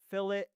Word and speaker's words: fillet: In CAD, we pronounce it fillet, not filt like the fish.